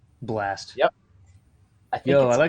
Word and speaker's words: bLa$T: Another one with the dollar sign. bLa dollar sign T. Blast.